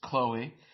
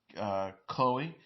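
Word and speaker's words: Khloé: Cohen said it's Chloe, and the little secret accent over the name before describing how confirmation of how to pronounce her name in the interview with the Kardashian family. Cohen recalled, I walked in, I go, Chloe, and the other women go, excuse me? Yeah, that's actually how I pronounce it.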